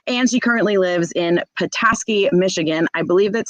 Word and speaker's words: Petoskey: uh so welcome sam hello hello did i pronounce that correctly is it petoskey yeah oh okay when i first went back here i called it patosky and everybody made fun of me oh no